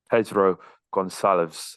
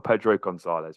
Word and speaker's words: Pedro Gonçalves: Pedro Goncalves, I completely butchered the pronunciation there. I appreciate. I do not speak Portuguese very well. Pedro Gonçalves, we'll call him.